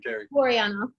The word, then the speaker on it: Terri Buryanov: go ahead give us well how do you pronounce your name jerry mariano boy i wasn't even close okay i don't